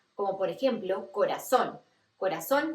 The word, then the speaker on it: corazón: Corazón lo escribimos con Z en español, pero lo pronunciamos como si fueran dos S, corazón.